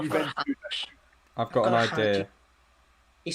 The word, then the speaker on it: Juventude: It's spelt like Juventus, but instead of the S on the end, you've got a D and an E. Oh, Juventude.